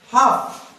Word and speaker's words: half: Balm, M के पहले कौन आया, एल आया, साइलेंट। हाफ, HALF, हाफ, कौन आया, एफ के पहले एल